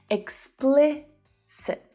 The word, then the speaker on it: explicit: So the stress there is on the second syllable, but all of the vowel sounds are short. Explicit.